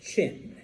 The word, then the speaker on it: Qin: And I know it's Qin, but it's pronounced Qin, okay?